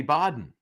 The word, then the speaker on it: Baden: And so somebody said, get Linda Kenney Baden. And then, of course, Aidan said, Linda Baden. Yeah, that's yeah. No one can pronounce my name right. I know. Anyway, it's Kennedy, it's Baden.